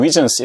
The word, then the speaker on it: Weejuns: 우리나라에서는 이제 S를 발음하지 않죠. 미국에서는 이제 위즌스 이렇게 얘기를 하지만 우리나라에서는 그냥 위준.